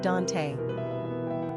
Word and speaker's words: Donte: Quick facts on Dante Gender, Boy Origin, African-American Number of syllables, 2 Ranking popularity, 914 Pronunciation, Dante Simple meaning, steadfast, enduring Characteristics of Dante The